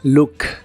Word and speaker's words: look: mirar en inglés es look la doble o de esta palabra se pronuncia como una u corta y explosiva Look Look este verbo se refiere